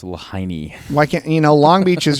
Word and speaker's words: Lahaina: Lahaina and Malibu, like of all the seaside communities that could have burnt down, I think it's pronounced Lahaini.